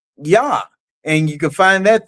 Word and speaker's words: Yah: the name Jehovah, and they said Jah instead of Yah.